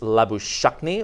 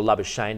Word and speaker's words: Labuschagne: My friend, my friend Manus Labuschagne, or Labuschagne, depending on how you want to say his name.